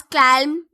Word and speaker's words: calm: Calm. Or do we pronounce it as calm? We pronounce it as calm. So L is the silent letter here.